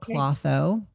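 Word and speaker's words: Klotho: So we started tooling around and we discovered this protein and I pronounce it cloth. I'm it could probably be both ways but it was first described in nature magazine nature journal you know more than 30 years ago.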